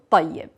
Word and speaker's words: طيب: to pronounce the word طيب. We are starting with the letter ta. Ta. Ta, it is a thick letter. It is thicker than ta. Ta is coming from front teeth.